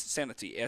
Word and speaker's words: Santee: It's Santee, Santee. I pronounced that okay.